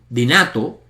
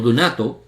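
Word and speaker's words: δυνατός: Seos, el Logos tiene poder dinato o dunato, conforme dependiendo de la pronunciación que usted elija.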